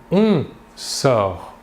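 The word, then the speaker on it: il sort: Nous voyons bien ici que le verbe se prononce de la même manière. Par contre, les terminaisons S pour les deux premières personnes du singulier ou T pour la troisième personne du singulier s'écrivent mais ne se prononcent pas.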